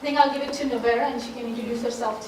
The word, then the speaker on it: Nowairah: All right, so I think I'll give it to Nowairah and she can introduce herself too. Hi, my name is Nowairah, and it's a very hard name.